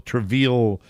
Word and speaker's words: Treville: nice area of Rockville, Treville. Gateway. It rhymes with David Seville.